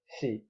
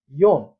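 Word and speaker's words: 四: यो सी अथवा योङ खान्जीमा यसरी लेखिन्छ। अनि उच्चारण यसमा सी र योङ दुईटा उच्चारण हुन्छ।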